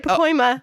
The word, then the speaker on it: Pacoima: In America, our top cities we have is Pacoima, California? Is that Yep, you said it right. Pacoima.